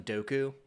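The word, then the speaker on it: Dooku: So like count do George Lucas calls him Doku.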